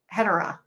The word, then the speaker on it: Hedorah: No, Hedorah is correct.